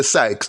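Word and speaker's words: psyches: tell you about sex sex is pronounced p-s-y-c-h-e-s we say sykes now how do we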